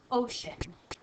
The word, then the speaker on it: ocean: the part in between usually sh makes a shush sound but not in this word in this word it's a c e a ocean and our a actually makes an is sound to say ocean so that's why this